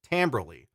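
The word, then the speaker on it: timbre: to mess up things tamberly or tonally if you like that word better by the way tamber is spelled like Timber and it really bothers me okay so let's see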